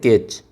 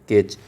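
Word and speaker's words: catch: सी ए टी सी एच इसको बोलते हैं कैच। इसको बोला जाता है कैच। तो कैच में ये जो टी है उसका कोई इसमें उच्चारण नहीं हो रहा है।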